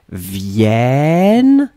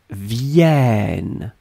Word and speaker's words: viennent: form, it's totally different because basically your double N opens the sound of the E. And the E becomes E. Make it longer. Make it longer. Ils viennent. Elles viennent.